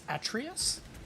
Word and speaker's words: Atreus: Actually, it's all of Atreus. Well, actually. Yeah. Chill, Avi. Just if that camera angle pushing the glasses up the nose as you say, well, actually. Well, actually. Yeah. Well, actually, it's pronounced Atreus.